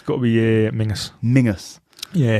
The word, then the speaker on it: Menzies: So it's got to be Mingus. Mingus. Yeah, because I used to call it Castle Menzies. Yeah. Or the Menzies Castle Stone. But it's Mingus.